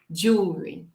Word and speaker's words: jewelry: Esse é o L, dark L, que nós vamos segurar aqui atrás do nosso dente, senão não vamos descer nossa língua para pronunciar esse som. Jewelry, jewelry.